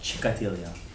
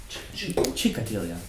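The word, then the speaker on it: Gikatilla: This is the Mechitzato Shel Rabbi Yosef Jikatilia. I actually was checking that his real name is pronounced Chikatilia. Chikatilia.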